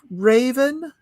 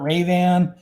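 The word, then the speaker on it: Ravan: an en um race sometimes i pronounce it raven sometimes i heard ray-ban because yeah i got that extra a in there that how do i do i throw that in there i'm not quite sure you need some fun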